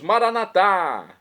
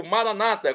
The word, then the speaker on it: Maranata: aramaico de de Jesus maranat como dizemos noss católicos ou Maranata como dizem nossos irmãos separados os evangélicos ou protestantes não importa pronúncia o significado é o mesmo vinde Senhor Jesus vem